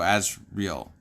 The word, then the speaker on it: Asriel: one reading it but it's spelled a-s-r-i-e-l so as real um and then i